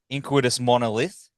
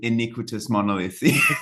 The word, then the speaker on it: Iniquitous Monolith: much man the new inous monolith inous monolith I said it right e all so close man we get it all the time iniquitous monolith iniquitous mon month monolith